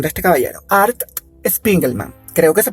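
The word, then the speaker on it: Art Spiegelman: van a perdonar la pronunciación de este caballero Art spingle Man creo que se pronuncia así Art escribió una historia esa historia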